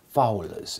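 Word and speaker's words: foules: Fowls is how that's pronounced in Middle English.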